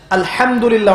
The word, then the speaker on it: আলহামদুলিল্লাহ: আলহামদুলিল্লাহ অর্থ মানে কি? এখানে যে হা আছে, এটা কি বড় হা না ছোট? হুত্তি না হাওয়াস? হায়ে হুত্তি, এটাকে বলে বড় হা।